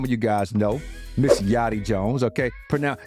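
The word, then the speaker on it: Yari: you guys know Miss yachty Jones Okay pronoun it's spelled y a r i but it's pronounced yotti another New Yorker from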